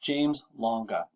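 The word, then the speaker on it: James-Lange: take the other two this one is pronounced james longa i don't really have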